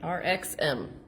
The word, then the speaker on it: RXM: RXM. With the emphasis on the X.